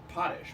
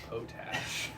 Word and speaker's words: Potash: like our real, like the way you pronounce our last name really is Potish, but we took a meeting at William Morris and they were like, boys, like from now on, it's Potash.